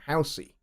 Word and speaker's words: Housey: house C so you take house the word house and then you accent the E so housy so you turn a one symbol syllable word house into a two-syllable word Halsey and that